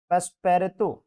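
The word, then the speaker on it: Passepartout: यहाँ पे देखो पेस्पेरेतो, ठीक है, ये फ्रेंच में नाम है, इसके लिए ऐसा प्रोनाउंसिएशन है।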